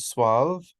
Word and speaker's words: suave: So in a couple words, you even pronounce a U as a W. So suede and suave, and then lots of them with G, like penguin, distinguish, and linguist.